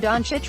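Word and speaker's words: Dončić: not afford to botch donek pronounced Don Church is the reigning MVP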